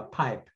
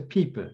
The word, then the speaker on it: Piepe: Also habe ich ja schon mal den Namen falsch ausgesprochen. Ja, bei Pipe. Natürlich Danske Piepe.